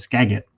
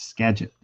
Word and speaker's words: Skagit: but he had pronounced it the other day as Skagit. It's Skagit.